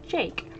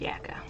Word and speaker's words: Jacke: which would make it jake and but eventually i looked it up and it turns out it is a german name and it is pronounced yaka i imagine that they